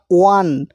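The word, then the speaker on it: one: আমরা ওন rupee বলি না, ওয়ান।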